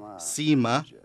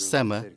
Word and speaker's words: Sema: We shouldn't say Sima, we should say Sema. If we read the composition done with Sema and Hey, it would be like Sema, hey, Sema, hey.